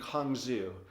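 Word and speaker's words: cang zhu: that through two very unique herbs they're actually pronounced as huangbai and kong zhu i know kind of odd pronunciations for herbs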